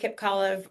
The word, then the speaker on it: Kipcolive: Um, Kipcolive rhymes with olive. That's the way I always tell people to remember my last name.